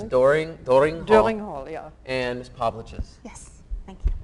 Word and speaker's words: Povliches: And Miss Povliches. Yes, thank you. It rhymes with sandwiches, you said.